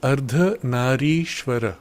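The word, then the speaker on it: Ardhanarishvara: Nikil, do masculine and feminine culminate into Ardana Shivar? If I pronounce correctly is ardana shivar the transcendent consciousness which gave birth to masculine and feminine. So the term in Sanskrit is arda nari shwara ardha means half nari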